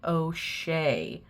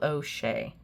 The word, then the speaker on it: Auger: The author pronounces his last name. Ohea. Okay. So, I'm I do apologize. It's Michael O'Shea.